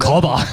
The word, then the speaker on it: Cobb: As we mentioned last week, Aaron Rodgers showed up to training camp, and they did trade for Randall Cobb straight after. Cobb. Cobb. C-O-B-B, one Cobb. syllable.